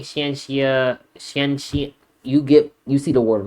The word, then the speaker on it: Xianxia: Xianxia. That's how you pronounce it.